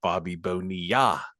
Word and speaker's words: Bobby Bonilla: Number 65, we mentioned him earlier, Bobby Bonilla. Played for the Pirates. See, you didn't say it right. You got to say Bobby Bonilla.